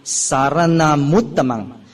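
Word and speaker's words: saranamuttamaṃ: The U is joined to the M in front of saranang. So sometimes in certain chanting book, you can see them joining up together because very unusually you have uttamang. Usually we say saranamuttamang. You join two words together, saranamuttamang. It sounds much better.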